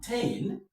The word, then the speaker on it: tain: Entertain, me, the stress is on tain.